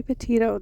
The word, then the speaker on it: Petito: Gabby Petito. That's how you say her last name.